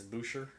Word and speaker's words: Boucher: don't respect other people's culture and don't pronounce their names correctly, like French people in Louisiana who say their name with an ER as at the end. That's a little. Like my name is Boucher.